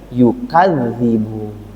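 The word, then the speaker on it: يُكَذِّبُونَ: Kalau dibacanya yukadzibun. Tapi kalau bacanya yakzibun, kembali kepada ayat sebelumnya.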